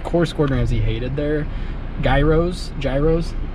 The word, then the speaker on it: gyros: Or heroes?